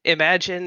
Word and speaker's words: Imagine: And imagine is just the word imagine.